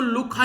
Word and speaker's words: Lukh: जा रही है LUKH, तो यहां पर बेसिकली लुक या फिर लुक एक तरीके से रिवर आप लोग इसको बोल सकते हैं, जो भी आप लोग प्रोनाउंस करें। नॉर्मली आप लोग इसको लुखा ही बोलिएगा।